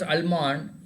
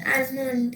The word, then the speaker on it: almond: Sir, almond. Almond, yeah, almond. L has to be there, but it should be very silent.